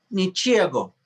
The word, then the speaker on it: ничего: Ничего. Ничего. The stress is on the O, it's correct. But sometimes in Russian, instead of G, we read as V.